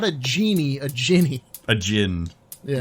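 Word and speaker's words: djinni: the end i mean like the proper pronunciation is gin so yeah now that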